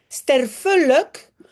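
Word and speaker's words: sterfelijk: Sterf luck. Luck fait l'adjectif. On prononce pas lake mais l.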